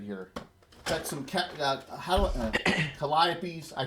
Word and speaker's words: Calliope: Got some Calliopes. I pronounced it right this You time.